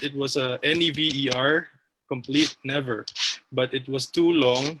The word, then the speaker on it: NEVR: First, it was a NEVER complete never, but it was too long, so I took out the other E and just write NEVR, uh, still pronounced as never.